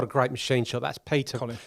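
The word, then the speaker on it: Piotr: W what what a great machine shop that's Peta spelled p i o t r um pronounced Peta so we got that correct it's great machine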